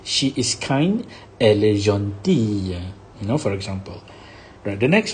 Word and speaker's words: gentil: Jean T Jean D you don't pronounce the L here gentil and what happened feminine